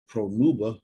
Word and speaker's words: Pronuba: Her various epithets are Senexia, Damaduca, Huga, Hugelius, Matrona, Pronuba, that sounds like Pornhub.